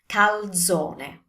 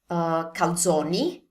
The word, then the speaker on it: calzone: Now with this one, we have the usual mistakes. Saying calzone, we need to pronounce the ending E, so calzone. And also saying it like calzoni, again, it's one calzone, it's not plural, so use the E sound, calzone. And finally, another version I've